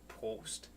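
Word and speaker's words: Prost: r o s t post and what's that mean cheers post yep don't sound like you gotta roll your r from the back of your throat post post post post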